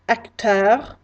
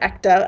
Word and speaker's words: acteur: I might say that someone is an actor or an actress, and that is pronounced acteur, actrice. So if you hear me say acteur, actrice, that's what I'm talking about.